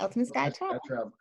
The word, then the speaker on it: Ultimate Skye Travel: So, with your company, Ultimate Skye, let me pronounce right. Ultimate Skye Travel. Yes, that's correct. Ultimate Skye Travel.